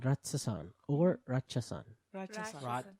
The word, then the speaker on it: Ratsasan: Ratsasan. Ratsasan? That's how you say it, right? Yeah. Ratsasan.